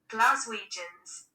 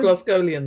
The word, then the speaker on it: Glaswegians: Oh, I've got the British pronunciation. How do I play it? Glaswegians.